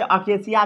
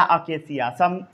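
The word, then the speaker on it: acacia: अकेसिया, कई लोग इसे अकेसिया भी पढ़ते हैं, आका अकासिया या अकेसिया. सबसे अच्छा अकेसिया पढ़िए.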